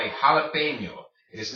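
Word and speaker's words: jalapeño: alipay mio jalapeno okay it is called a jalapeno it is not called a jar Latino or jalapeno okay it's pronounced jalapeno why because this NJ makes the n plus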